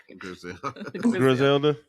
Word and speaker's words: Griselda: What you want to say to CEO Rick and Grizel? How you say it? Griselda. Yeah. Griselda.